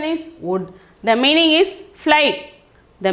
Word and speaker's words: उड़: The pronunciation is wood.